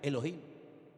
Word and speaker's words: Elohim: Y el primer nombre que conocemos de Dios y empezamos a leer la Biblia desde el principio es un nombre que se pronuncia Elohim.